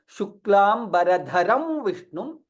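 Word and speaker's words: शुक्लाम्बरधरं विष्णुं: Yes, it is not the right way of pronouncing the shloka, because it is Mahaprana, right?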